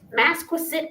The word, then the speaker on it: Masquapaug: Uh let me see if I'm saying it right. Massquit. Mass Masquiset. Massquisit island. That's how you say it.